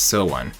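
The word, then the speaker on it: SONE: of fandom here so the name is pronounced so one signifying the group and the fans being together with so coming from the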